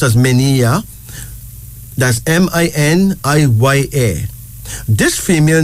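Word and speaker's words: Miniya: Menia. Menia. M-I-N-I-Y-A, pronounced as Menia.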